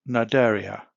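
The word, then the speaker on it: Cnidaria: the kingdom of animalia we have naderia this word is a silent letter c this is an interesting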